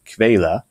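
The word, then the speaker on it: Quelle: word there you see I'm not very good at pronouncing it but it's something like Kayla and that simply means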